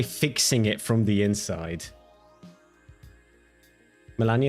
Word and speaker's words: Melania: Melania is pronounced the Russian Polish way.